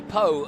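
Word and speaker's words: Pau: they raced at uh paw and also raced at the tron hopefully i'm pronouncing that correct oh being so close to canada well mo yeah you gotta say poe oh yeah and uh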